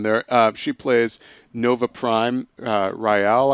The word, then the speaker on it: Rael: Rael, I believe, is how you say her name.